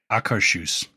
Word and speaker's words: Akershus: Doing Akershus, right? Trevor, that's how you say it correctly? Akershus.